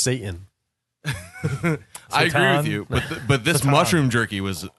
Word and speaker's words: seitan: I agree with you it's pronounced Satan but this mushroom jerky